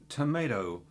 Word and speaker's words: tomato: And I I said the word tomato earlier on. And it's not only tomorrow that British say, but the second T is not a D. So it's not tomorrow, but tomato. Sounds a small thing, but you get that right.